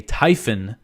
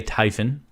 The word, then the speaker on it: Typhon: y p ho n it looks like it should be typhoon but there's only one o so I'm going to say Typhon uh it's a Typhon